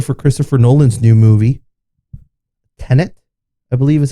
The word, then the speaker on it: Tenet: Trailer for Christopher Nolan's new movie, Tenet, I believe is how you say it.